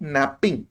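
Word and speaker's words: knapping: प्रक्रिया को हम बोलेंगे नैपिंग नैपिंग के जो है साइलेंट होता है और नैपकिन के बाद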